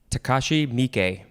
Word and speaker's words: Takashi Miike: Takashi Miike.